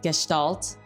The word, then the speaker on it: Gestalt: I looked up how to pronounce it. I think it was Gestalt. So I'll just be pronouncing it like that.